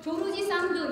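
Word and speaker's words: George Sand: 조르지 상드, 조르지 상드 이렇게 발음 하더라고요.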